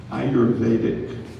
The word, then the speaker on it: ayurvedic: on here we go the word is ayurvedic ayurvedic also be could be pronounced I heard that you're better a y